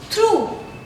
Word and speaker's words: through: And here what I am saying through. The last sound is U.